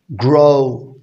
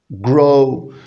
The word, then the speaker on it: grow: طبعا بمعنى يعرف grow اوعى تحط حاجة بين الـ G والـ R وضم شفايفي وانا بنطق الـ G مع الـ R grow grow جرو حبيبي بمعنى يكبر